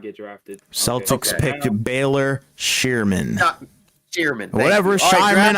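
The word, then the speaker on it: Scheierman: Celtics picked Baylor Shearman. Shearman. Whatever, Shireman. I think it's Shireman. I think that's his actual pronunciation. Well, let me check the thing. I did. It's Shireman.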